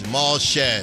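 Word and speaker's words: Jamal Shead: Okay, it is Jamal Shed, the backup point guard for the Raptors. The A is silent.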